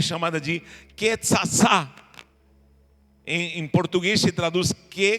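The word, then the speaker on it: קצצה: Mas não é uma transliteração fiel, porque com duas letras, com tzadik, que é uma pronúncia que não existe no Brasil, em português, que é TS, o TS, tzatzetsitsotsu.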